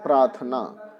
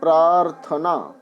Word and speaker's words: प्रार्थना: और इन देते हैं प्रार्थना प्रार्थना गलत शब्द है आप ध्यान रखेंगे प्रार्थना तो इसका जो रख यार है उसका उच्चारण क्लियर होना चाहिए प्रार्थना अब बताएं यहां पर